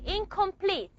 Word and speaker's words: incomplete: Okay, a word just like incomplete. The N here is not going to be pronounced as a normal N. It's going to be pronounced as ing.